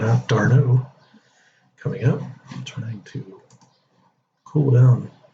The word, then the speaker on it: d'Arnaud: So Travis d'Arnaud, I think that's the way he pronounces it now that I'm figuring it out. d'Arnaud coming up, trying to cool down Giolito.